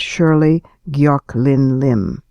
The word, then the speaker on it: Geok Lin Lim: So this week, fittingly, fighting words are in the shape of a poem by the Malaysian-American poet Shirley Geok Lin Lim. That's spelled Geok-Lin-Lim.